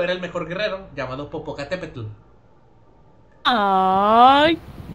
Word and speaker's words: Popocatépetl: No, de hecho sí se pronuncia como... ¿No mames, neta? Sí. Si lo checas con un lingüista, sí te va a decir que el TL se pronuncia como... Es raro, pero es como Popocatépetl.